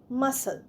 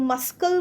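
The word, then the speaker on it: muscle: এম ইউ এস সি এল ই মাসল। মাসেলেও দেখো সি উচ্চারণ হচ্ছে না। আমরা কিন্তু মাসকাল বলছি না। মাসল বলছি।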